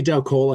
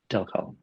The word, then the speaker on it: Del Col: Is it just Del Cole or is it It's Delic the computer call like a telephone call. Del Call Del Call.